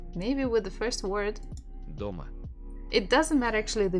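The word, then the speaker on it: дома: thinking about stress DOMA Doma don't forget to repeat DOMA so have two syllables do and Ma which one has been stressed DOMA so if you feel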